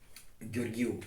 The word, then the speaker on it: Gheorghiu: All I will say, like, when I will make videos about astronomy, or I say how to pronounce, okay, Gheorghiu, like Friedrich Nietzsche.